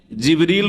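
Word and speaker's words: جبريل: আর তিনি রূহ, তাহলে জিবরাইল আলাইহিস সালামের নাম কোরআনে কারিমে জিবরিল রয়েছে, যেটা অন্য উচ্চারণে জিবরাইল, অন্য কেরাতে জিবরাইলও, জিবরিল, জিবরাইল আর রূহ।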